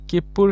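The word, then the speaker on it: きっぷ: এখন কি আছে কিপ্পুর ক্ষেত্রে কি, এই কনসোনেন্টের ক্ষেত্রে কি হবে, এই যে এখানে একটা ছোট সু থাকবে, এটা ডাবল উচ্চারণ করতে হবে।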